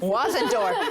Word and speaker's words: Wasendorf: we have Missy wendorf wasendorf yeah cuz I didn't want to mess that up pronounced like it's spelled and and she has